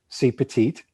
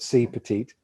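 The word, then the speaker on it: CPeT-IT: a little program called c petite that's how you pronounce the name of the program it's called c petite it's it's sort of a play on words that petite is french for small so it's a small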